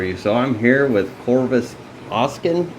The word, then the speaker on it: Corvus Oscen: so I'm here with Corvis Austin that's how you say it okay got it right uh aka Joel yeah